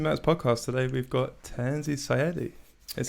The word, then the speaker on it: Tanzy Sayadi: show of music matt's podcast today we've got tanzi syedi is how you say your name is yeah